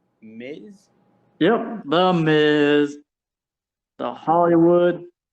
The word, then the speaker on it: Miz: with an m and it rhymes with whiz miz yep the miz the